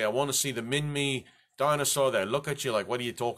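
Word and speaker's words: Minmi: was the shortest I know name very easy min me has nothing to do with Austin Powers movie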